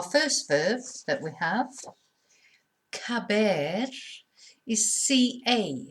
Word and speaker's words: caber: So our first verb that we have, caber, is CA. So it's a K sound when it's followed by an A.